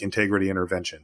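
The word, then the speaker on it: Integrity // Intervention: that's it there's no you just pronounce it like integrity intervention so there you go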